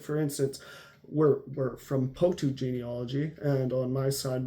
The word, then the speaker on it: Pouttu: And he said, no, it's not Poulton, it's Pouttu. And of course he's speaking to an English person, and the English person, Pouttu, it's a very strange sounding name. And see, when I'm pronouncing it with an explosive P, Pouttu, it's not even that way. There is no B in the Finnish alphabet. And so Pouttu comes out more like Botu.